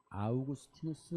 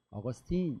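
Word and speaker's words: Augustinus: 이게 그 라틴어로는 아우구스티누스 이렇게 돼 있어요. 철학자이기도 하고 신학자죠. 영어로 읽으면 아우구스티누스를 어거스틴 이렇게 읽어요. 그래서 우리는 영어로 배웠기 때문에 어거스틴이 더 익숙하지만 사실은 그 아우구스티누스 이게 더 정확한 발음이고 맞는 얘기죠.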